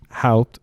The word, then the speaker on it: Houpt: And we're back with Mark Houpt.